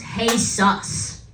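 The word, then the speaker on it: Jesús: It's pronounced Hey Sus. Oh, hey Zeus.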